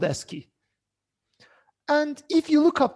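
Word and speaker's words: ASCII: they are called the S key codes this is I mean pronounced as s key as if you're reading it the abbreviation it represents text in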